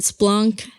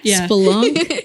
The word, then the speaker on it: spelunk: spelunk Splunk Splunk it there's like a two syllable spelunk instead of Splunk mhm spelunk we need